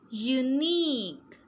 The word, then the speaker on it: unique: Machine, machine, QUE sounds like K, okay. So how will we pronounce this? Antique, say with me, antique. Unique, unique.